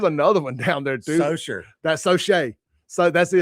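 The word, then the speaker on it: Saucier: I said, "How do you think that's pronounced?" And she's like, "Sosa," or what?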